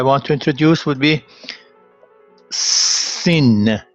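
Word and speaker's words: سین: The first letter I want to introduce would be Sin. The name is Sin, but it's pronounced S.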